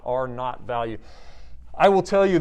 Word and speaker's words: R naught: factor that we call the r naught and that's pronounced n-a-u-g-h-t which for those of